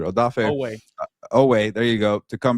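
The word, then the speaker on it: Oweh: Yeah, you want Odafe Uwe. How do you say last name? I butchered Odafe Owe.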